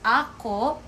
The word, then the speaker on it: ako: my or mine that's Ako okay later I will show you the difference between these three things sorry sorry when you pronounce this AKO the stress will be on the first syllable it's Ako a while